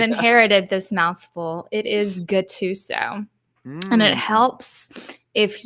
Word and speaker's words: Guttuso: because then you realize it should be pronounced Guttuso.